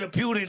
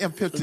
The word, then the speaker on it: impotent: How is that impotent? Got to had a good reason. Did I say it right? Imputent. Impotent. Impotent. You still saying it wrong.